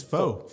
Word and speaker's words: faux: Faux? F-A-U-X? So I think it's faux. Folks? Faux? Yeah. Well, why is there an X? Well, I think it's French. Oh, ooh la la. Yeah, faux.